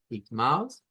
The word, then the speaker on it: irmão: Igmaos, hermanos, igmas, hermanas. Entonces, significa que Igmao, nótese que se pronuncia con, aquí está esa J, en realidad es la R gutural, ¿vea?